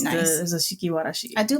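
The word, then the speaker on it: 座敷わらし: There is a yokai called a Zashiki Warishi. Why did I pronounce that way? But anyway, what? I don't know. It's the Warashi. Zashiki Warashi. Warashi.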